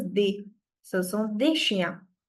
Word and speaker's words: des: S in the end is never pronounced in French. So, this is also not des. The pronunciation is di.